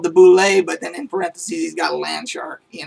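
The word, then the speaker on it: bulette: said all these years have called it the bullet but it turns out out if you look at the way it's spelled he went with the French pronunciation of Boule and if you look at that it's actually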